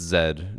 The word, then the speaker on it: Zed: You pronounce zed wrong. chat. It's Zed, not Z.